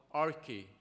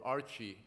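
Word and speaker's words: ἀρχή: And the name they had for government is called archi, or archi, as I call it, because I can never pronounce old Greek words.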